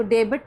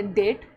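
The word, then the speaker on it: debt: जैसे इसको डेबिट नहीं पढ़ना, यह डेट। डेट क्यों है? क्योंकि यहाँ पे टी से पहले बी आ रहा है तो बी साइलेंट है।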